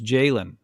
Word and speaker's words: Jalon: It's funny because actually if you look at Jaylen Walker, it's just like Jason Walker. Just it's a L instead of an S and Jason still can't pronounce it right.